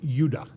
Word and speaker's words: Judah: Judah more properly pronounced udah because we didn't get the harder sound to the Jay until about 200 years ago so this is what